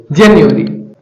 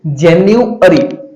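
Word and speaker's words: January: Till जनवरी। इसे जनवरी नहीं पढ़ेंगे, जेन्युअरी। जनवरी उसका जो वर्डली प्रोनाउंसिएशन होगा वो क्या होगा? जेन्युअरी। जेन्युअरी एंड फ्लुएंटली जनवरी।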